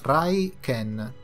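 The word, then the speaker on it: Raiken: molti aspiranti guerrieri brighten si pronuncia rai ken e si scrive con i caratteri giapponesi che significano tuono e cane questi segugi sacri sono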